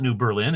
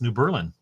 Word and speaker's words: New Berlin: called it New Berlin we just pronounce it differently and nobody will notice it's not New Berlin it's New Berlin S I fall in